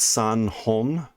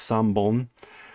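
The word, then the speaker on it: 三本: For instance, if you have 3 pencils, it's not san hon. San is 3. The hon changes to bon, so it's san bon, and there's changes like that sometimes happen with some of those things.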